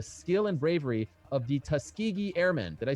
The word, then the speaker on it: Tuskegee: The skill and bravery of the Tuskegee Airmen. Did I say it correctly? Tuskegee.